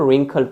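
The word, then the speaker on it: wrinkled: आगे हमारा now next one इज a little man face रिंकल्ड, अब इसको रिंकल्ड पढ़ते हैं, ठीक है, ये चीज ध्यान रखिएगा, दिस इज रिंकल्ड, ओके, इसमें W साइलेंट रहता है, दिस इज रिंकल्ड।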